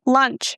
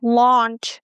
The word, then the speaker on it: launch: So, I click on that microphone and I say lunch. And surely enough, here is the word lunch. So, I realized, uh-oh, I mispronounced this word. So, I try it again. Launch.